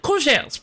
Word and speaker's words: courgette: I'll be taking 3 courgettes, please. Courgette. I think you pronounce it. It is okay. So I think you pronounce the T because there are 2 T's, right?